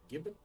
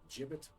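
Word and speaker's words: gibbet: right on the crosss is that how you pronounce it Gibb it jibit it's always been a bit of a contentious topic you know it's either or but you know what's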